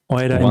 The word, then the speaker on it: Oida: Oida, indeed. That is exactly how you say it.